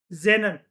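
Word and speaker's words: xenon: Helium, नियॉन, krypton, जेनन ये XCNO एन को हम लोग कैसे प्रोनाउंस करते हैं? जेनन कहते हैं हम इसको।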